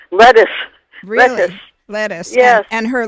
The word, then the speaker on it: Lettice: always called Lettuce, and I think you pronounce it almost like the thing that you eat. Lettuce.